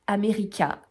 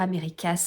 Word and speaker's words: America: J'arrêtais pas de vous dire Americas, Americas, Americas. Non, ça se lit et ça se dit America. Voilà, le S ne se prononce pas, il est entre crochets, il ne se dit pas.